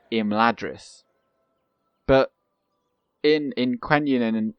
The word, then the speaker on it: Imladris: word like the um the focus is always on the first syllable well pretty much always so it isn't it isn't uh imladris it's rather so it's